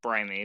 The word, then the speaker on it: Brime: But the team name is actually pronounced Brimy because it's a combination of our names.